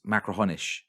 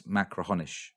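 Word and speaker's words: Machrihanish: have, I'm sorry, but if you read it written down, it's Macrahanish, but it's not. It's Macrahonish, I think, right?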